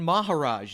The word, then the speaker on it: Maharaj: And Lauren Maharaj is here. Did I say that right? Yeah, you said it right.